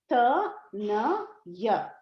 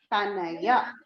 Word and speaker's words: Tanaya: Ta-na-ya. Tanaya. 1, 2. Tanaya. And for a daughter, it is Tanaya. Why? We have to extend it. Strilinga or female is always extended in the last syllable.